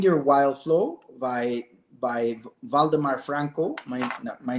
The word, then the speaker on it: Waldemar: It's It's called Find Your Wild Flow by by Voldemar Franco. My my name is spelled W A Lde M A R.